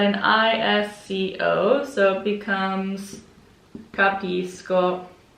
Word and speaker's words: capisco: of these so um when the sc is followed by an o it's an sk sound so i say capisco when the sc is